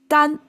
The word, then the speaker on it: 耽: And it's pronounced totally different as Dan.